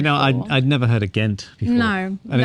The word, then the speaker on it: Gent: i'd never heard a ghent no and it's spelt g-e-n-t the british have got an h in there so it makes you pronounce it as ghent not gent yeah yeah yeah so